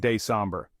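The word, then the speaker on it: décembre: is December or December in French we pronounce it day somber outro thanks for joining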